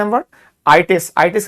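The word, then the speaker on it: -itis: ITES, ITIS इसको हिंदी में pronounce करते हैं, मतलब प्रोनाउंस किया जाता है आइटिस, आर्थराइटिस, हेपेटाइटिस, नेफ्राइटिस, कार्डाइटिस।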